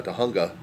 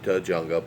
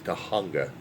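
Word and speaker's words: Tujunga: It's comes to Riverside Drive which is east to west and uh Tahunga. Some people call it Tjunga but it is Tahunga. That's how it is pronounced.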